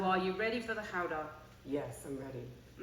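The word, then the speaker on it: Gouda: howder yes I'm ready I'm pronouncing it howder because Lisa comes um her family come from from Holland from Holland yes um this is guda in America and Canada and GAA in the UK so this is a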